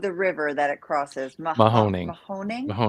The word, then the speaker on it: Mahoning: How do you pronounce the name of the river that it crosses? Mahoning.